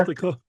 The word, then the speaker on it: Ithaca: I don't know how you pronounce that street name. Is it Ithaca? Ithaca.